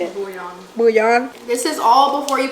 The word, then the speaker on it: bouillon: Bouillon.